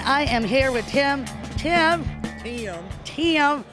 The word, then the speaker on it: Tim: Tim. That's what they say in Tennessee. It's two syllables.